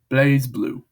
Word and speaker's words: BlazBlue: Now here's how I'll pronounce it. It goes like this: BlazBlue.